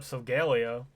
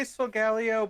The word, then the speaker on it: Solgaleo: what probably finish up solgaleo regalia yeah close enough i say sogalio but i think it's technically solgaleo or maybe solgaleo i don't know i